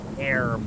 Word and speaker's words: herb: we have to make herb a yeah a mate herb there's an H there I'm going silent h no it's not in all other forms of English they pronounce it with the H including the Brit they